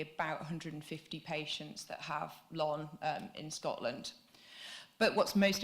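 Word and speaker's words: LHON: hereditary optic neuropathy are much more easily pronounced as lon it's a mitochondrial disease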